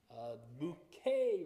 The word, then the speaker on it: Bucket: That's because her name is spelled Bucket. And so when she answers the phone, she says, Bouquet residence.